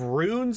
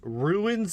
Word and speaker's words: rune: But instead of runes and sigils, at one point he actually says ruins and sigles.